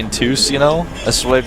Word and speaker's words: Entus: You know, everybody says Entus wrong, but it's an acceptable pronunciation at this point. Yeah, it's actually Intus, you know?